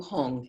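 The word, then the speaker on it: Hum: red light, and at his heart a blue Hong, H-U-M. And imagine light emanates from these 3 syllables, and they're inviting all, and going out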